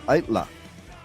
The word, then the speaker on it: Aittala: So, let's welcome to the show Eric from ITLA.